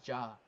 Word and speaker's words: Ja: People, his name is Jaw, but I say Jay because it's funny.